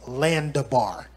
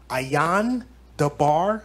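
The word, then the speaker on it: אין דבר: So if you spell it with an L, you were saying Landabar. Landabar doesn't mean anything in Hebrew. Ayan Dabar means it's no thing. Some Israelites spell it with an A. The word is actually spelled with an I. It's Ayan Dabar.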